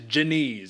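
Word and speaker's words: Diniz: out how you pronounce it and it is Janise even though it's spelled Denise here's the point Man Austin Lane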